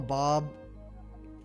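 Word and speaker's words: Beau: I'm tempted to call him Bob, but that's kind of lame.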